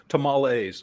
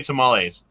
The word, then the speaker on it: tamales: how do you say tamales tamales you either say tamales which is the american way to say it or tamales i say tamales tamales which is a mixture of both you're like saying it